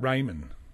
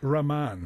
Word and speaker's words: Rahman: Is it Raymond? It's a Rahman, actually. Rahman. Rahman. R-A-H-M-A-N.